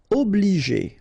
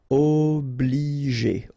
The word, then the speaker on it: obliger: Obliger. Okay, remember when you get G and after that the vowel E, then you pronounce it J.